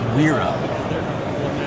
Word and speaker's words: Wera: I pronounce it Wera, and I've pronounced it Wera for about 30 years.